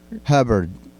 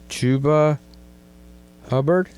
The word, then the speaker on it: Chuba Hubbard: Chuba Hubbard. Chuba Hubbard.